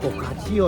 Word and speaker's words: focaccia: Am I pronouncing it right, by the way? Focaccia?